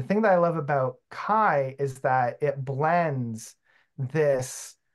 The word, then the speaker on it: Ki: But the album I'm going to go for is, I pronounce it Kai, but I know a lot of people call it Key.